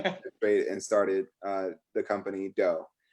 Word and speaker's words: Dough: and started the company Dough. And that's spelled D-O-U-G-H, just like, kneading dough for all those bakers out there.